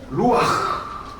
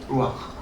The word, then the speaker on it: 루아흐: 루아흐. 네. 루아흐. 독일어 하시는 분은 그 체하 발음이에요. 아. 루아흐.